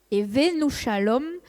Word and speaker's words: Evenou shalom: Pour la prononciation ça se dit et venus shalom àem.